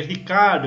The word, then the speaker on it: Ricciardo: Pra quem gosta que quando eu falo Ricciardo, que normalmente o pessoal me corrige, é Ricardo. Eu falo, né? Como descendente italiano, eu me recuso a falar Ricardo, é Ricciardo.